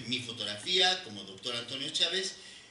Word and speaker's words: Chávez: Antonio Chávez, el apellido Chávez lleva acento en la A, V y Z.